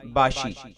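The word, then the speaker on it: Bashi: रखता है इसका मानी है सरदार सरब अफसर spelling B ए एस एच आई बाशी बादिल इस नाम का ताल्लुक अरबी जुबान से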